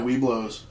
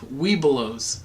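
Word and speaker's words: Webelos: Weebelows. Yeah, Weeblos, which is as you become farther up in the ranks, you drop a vowel or a syllable there in the middle.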